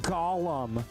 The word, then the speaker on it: golem: golem video with people saying it's not Gollum, it's Golem. I'm not going to pronounce it Golem. It doesn't feel natural for me to say. Most people say Gollum and they understand what you mean because O can have